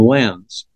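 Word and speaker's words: Lenz: the number 42 is it turns out and this was worked out by another German physicist named lens spelled with a z Wilhelm lens it was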